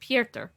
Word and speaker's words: Piotr: master that's such a it's so odd to hear a name pronouncing a different accent like we would say peter but he said pierta it's really cool did